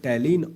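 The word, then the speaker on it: ptyalin: टैलीन और लाइसोजाइम। टैलीन और लाइसोजाइम। टैलीन का स्पेलिंग पी टी व एल आई एम होता है। अगर आपको इंग्लिश में ऐसा आ गया तो कंफ्यूज नहीं करना।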